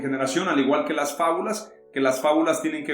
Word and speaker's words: fábula: la fábula viene del latín fábula o fábula lleva un acento en la una íntimamente relacionado con el